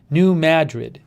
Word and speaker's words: New Madrid: yeah ma new man it's ba ma as in bad new madrid it is new madrid